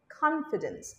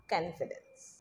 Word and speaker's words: confidence: No, confidence, not confidence.